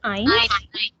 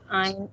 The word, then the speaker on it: ein: It would be ein, not eins. Ein only. Ein und Axis.